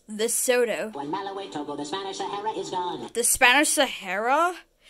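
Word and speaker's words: Lesotho: confusion with zambia it's pronounced the soto when malawi the spanish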